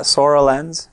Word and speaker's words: Soralens: so I think I'm saying it right yeah sorrel ends yeah I had to slow it down to